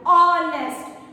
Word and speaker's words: honest: Because here H is silent. H जो है वो silent, and the pronunciation which comes out is like honest.